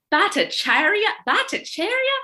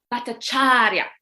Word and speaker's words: Bhattacharya: And I would say the names like Bhattacharya, and they would say, no, Bhattacharya, and they would make me say it properly, and finally I would.